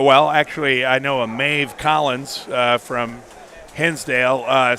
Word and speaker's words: Maeve: I could I mean it's Maeve but I always call her maybe because it's m-a-e-v-e so we'll just say it rhymes with that there you go we